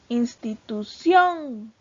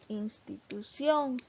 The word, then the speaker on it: institución: palabra sobre el brújula institución institución tiene el acento en la última fila o en la primera posición de derecha a izquierda entonces se tilda porque